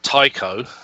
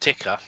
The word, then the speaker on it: Tycho: Even though it's spelled Tycho, as in the crater, it is actually pronounced Tycho.